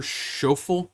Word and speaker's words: Schauffele: Xander Schauffele? It's Schauffele.